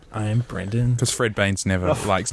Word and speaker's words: Brendan: set up high expectations you pronounced your name Brendan right Brendan yeah yeah yeah cool what's the other pronunciation well he just said Brandon I was like oh